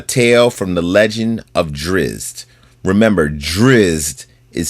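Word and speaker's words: Drizzt: at odds a tale from The Legend of drizz remember driz is spelled Dr i zzt t for a free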